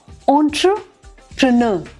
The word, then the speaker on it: entrepreneur: ENTREPRENEUR, बड़ी complicated spelling है, लेकिन ये जो एंट्रे है ना, इसको एंटरप्रेन्योर, बस उसके बाद बिल्कुल साफ है।